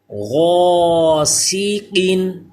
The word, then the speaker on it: غاسقین: پڑھا جا رہا ہے۔ غاسقین، یہ الف پر ہوگا کیونکہ حروف مستعلیہ ہے غین، اور قاف بھی پر، سین باریک ہوگا البتہ۔ غاسقین، طعامین، طا